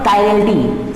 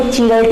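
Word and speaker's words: chirality: है, जिसका नाम है कायरल्टी, CHIRALTY। क्या है? कायरल्टी। कुछ लोग उसको चिरल्टी भी बोलते हैं, तो आप लोग कंफ्यूज मत होइएगा, बस अपनी प्रोनाउंसिएशन पे ध्यान दीजिएगा कि कायरल्टी क्या होती है।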